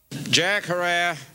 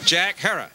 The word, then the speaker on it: Jack Herer: from marijuana that wasn't shot by a cop Jack Herrera have I pronounced it correctly Jackson Herrera heroin okay Jack Herer Jack Herer Jack Herrera Jack Herer called